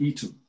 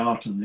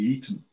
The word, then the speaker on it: Aten: It was both of them were actually pronounced more like Eton. Right. So yes, it sounds like Eden, yeah. Mm. Because the Aten god is spelt with a reed glyph. And the reed glyph is more of an E than an A. Mm. So instead of being the Aten, it's the Eton, which with a D,